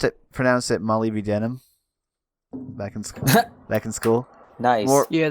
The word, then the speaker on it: molybdenum: Let's face it, molybdenum should count for more than one block of dirt.